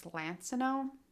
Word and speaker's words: Lansinoh: seen this brand before i always pronounce this company's name wrong too it's lansinoh if i say it